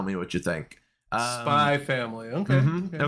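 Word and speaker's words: Spy × Family: what you think um spy family okay there's a spy ex family but the x is silent it's a weird anime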